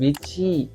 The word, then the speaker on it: Veecci: บิ๊ก ขัก กับ แบรนด์ vy น่า จะ อ่าน ว่า vy นะ คือ v e e c c i นะ น้อง คน นี้